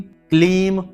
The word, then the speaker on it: क्लीम: यहां पर ह्लीम है, ह्रीम नहीं, ह्लीम, ह्लीम, ह्लीम, श्रीम, क्लीम, यहां पर क्रीम नहीं, बहुत से लोग क्रीम कहते हैं, क्रीम नहीं, क्लीम नमः।